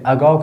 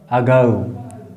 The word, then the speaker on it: ago: देखिए, पहले अगाउ का उच्चारण सीखिए। क्या पढ़ते हैं? अगाउ, अगाउ। ठीक है, ऐसा क्यों पढ़ते हैं? क्योंकि जो हम लोग इसको ओ पढ़ते हैं हिंदी में, वास्तव में अंग्रेजी लोग इसे औ पढ़ते हैं।